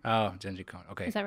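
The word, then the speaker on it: Jenji Kohan: answer I thought that you'd know how to pronounce it so it's it's Genji Cohen oh Genji cone okay is that right yeah that's familiar now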